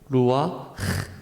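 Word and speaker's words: רוּחַ: 끝이 납니다 네 감사합니다 성룡 키 브리 어로 루와 라고 발음을 해야 됩니다 기독교에는 절기 란 것이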